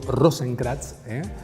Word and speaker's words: Rosenkrantz: Y va a asumir alguien, o asume alguien, estamos hablando de Carlos Rosenkrantz, o mejor dicho, Rosenkrantz, es difícil de pronunciar, pero así se pronuncia.